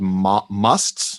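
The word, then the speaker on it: mast: men and women both, that were called musts. It's spelled M-A-S-T.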